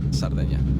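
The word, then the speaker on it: Sardegna: zona oeste de cerdeña en español se dice cerdeña con c en italiano se dice sardeña así que bueno digámosle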